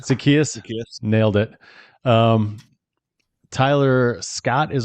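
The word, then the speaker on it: Zaccheaus: Rome Odunze, DJ Moore, Luther Burden III, Olamaye Zacharias. Is that how you say it? Did I get that one right? I think it's Zacchaeus.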